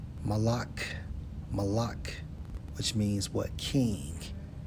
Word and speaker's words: Molech: Molech in the Hebrew Strongs H 4432 pronounced as Malak.